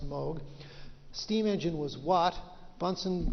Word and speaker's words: Moog: missed the music synthesizer was Moog or Moga actually emoji but it's pronounced mode steam engine was watt